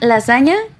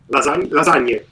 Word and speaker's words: lasagne: Definitely help us with the pronunciation in Italian, sorry. Pizza margherita? Tiramisu. Margherita. You see, margherita. Very good. Okay. And lasagna? Lasagne.